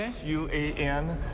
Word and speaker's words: Xuan: X-U-A-N. Uh-huh. People here might call that rice paper, but the actual pronunciation is Xuan.